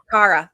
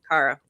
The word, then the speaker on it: Cara: My name is pronounced car. Cara.